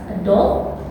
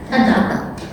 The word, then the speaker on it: adult: How to pronounce word adult, not adult, not adult, but adult.